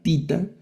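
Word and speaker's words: θήτα: La tita, la esta letra tita que es como z. En algunos textos, dependiendo de la pronunciación, ustedes van a encontrar que a esta le asignan como tho veces un poco suave también, pero es como nuestra z, la tita, la letra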